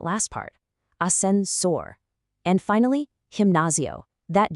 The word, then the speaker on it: gimnasio: And finally, gimnasio.